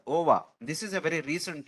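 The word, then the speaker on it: WOAH: Organization for Animal Health which is to be pronounced as OVA this is a very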